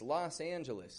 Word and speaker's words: Los Angeles: And so when we say this, Los Angeles, that O gets stretched out like an ah. Los. It's stressed. It's a strong sound. Los. But then with Angelus. I'm not giving it an Angelus, Anja, but Angelus, Los Angeles.